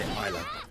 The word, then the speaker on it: Isla: from south america so they would be pronounced like you pronounced the name in spanish which is that so i'm going to say isla because that is the pronunciation so what the pronunciation